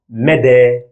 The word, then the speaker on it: مدى: For that, I will use these two words in order to distinguish between the two sounds in this couple. The first one, mede, which means arrange, and the second one, mada, which means gone or has gone.